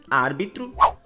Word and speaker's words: árbitro: palavras médico, hóspede, matemática, árbitro, clínico e hipopótamo. Percebam que nessas palavras nós pronunciamos a antepenúltima sílaba com mais intensidade, pois nós falamos da seguinte maneira. Médico, hóspede, matemática, árbitro, clínico, hipopótamo.